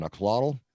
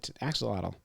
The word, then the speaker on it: axolotl: An axolotl? No, John, it's axolotl.